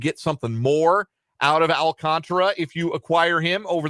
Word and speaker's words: Alcantara: that the Marlins are going to trade Sandy Alcantra or at least was would very much like to trade Alcantara. Uh Alcant Alcantara uh is the official pronunciation uh on baseball reference. Let me get it right. Alcantara.